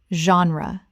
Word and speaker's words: genre: Genre. Common mispronunciation. Gen-ree or Gen-ree. Correct pronunciation. Genre. Two syllables. The G makes a z sound and the E is not pronounced at the end.